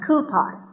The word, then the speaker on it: coupon: one of these a coupon a common incorrect pronunciation is but the second syllable should be pawn so coupon here's word number 16